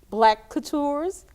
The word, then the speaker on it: Black CouTours: And I want you to begin sharing about your company, Black CouTours. Did I pronounce that right?